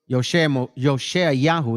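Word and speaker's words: Yehoshua: Yosha Yahoo is the pronunciation properly in Hebrew.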